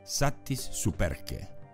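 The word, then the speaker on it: satis superque: esta semana la palabra de la semana es satis superk Así es esta vez tenemos una frase de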